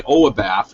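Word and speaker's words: oibaf: can actually enable a ppa uh it's by oabaf it's spelled o i b a f just google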